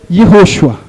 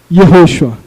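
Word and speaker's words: יהושע: O nome de Josué em hebraico é Yehoshua. Yehoshua. E esse outro nome aqui em hebraico é Yeshua. Vou repetir. Yehoshua.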